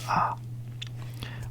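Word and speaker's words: あ: down a which is a all right so ah would be like this so first you would do a what's it called a like that right and then you would do this there you go that's ah or you can do it like this usually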